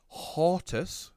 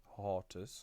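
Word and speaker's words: Hortus: it is a hortas that's h-o-r-t-u-s i like to think of it as the mix between a horse and a tortoise hortas oh a spell that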